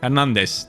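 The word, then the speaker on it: Fernandes: and 11 yeah on Fernand coming in Fernand Fernandez that's how they say his name turkey I guess that's how he wants it to be pronounced but eight and five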